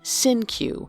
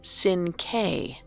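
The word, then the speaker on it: Cinque: Although Donald mispronounced the name as Sin Q rather than the original Latinate Sinc.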